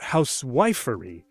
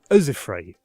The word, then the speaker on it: housewifery: Meter can also reveal stress, not housewifery, but usifry. Okay, you're learned now.